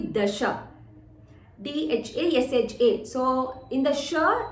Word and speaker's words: Dasha: So it is not Dasha Vaktra, it should be Dasha.